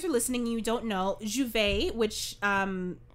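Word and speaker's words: J'ouvert: like day open and um you know it's pronounced as juve in trinidad and there's like festivities and um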